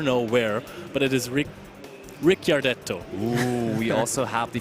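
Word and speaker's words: Ricciardetto: and I never know where but it is Rick Rick gardetto ooh we also have the Phoenix blade maybe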